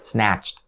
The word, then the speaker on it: snatched: course the word snatched snatched so is ending sound is going to be and keep in mind once again these sounds are actually voiceless consonants so don't say no